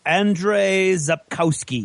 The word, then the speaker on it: Andrzej Sapkowski: It's Andrzej Sapkowski.